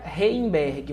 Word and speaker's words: Reimberg: toodos Miguel e #campanha reberg o nome dele é com m antes do b tá gente e o g é mudo campanha e somos todos